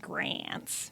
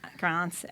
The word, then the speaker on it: Grance: Looks like it might be pronounced Grants. Right. But it's not. Grance sounds much prettier.